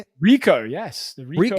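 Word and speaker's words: Ricoh: Rico.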